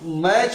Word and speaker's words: match: TCH जो है उसमें C और H से पहले जो टी है वो साइलेंट रहता है, वो साइलेंट पढ़ा, वो टी पढ़ा नहीं जाएगा। तो इसको अब मैच पढ़ना है, ठीक है।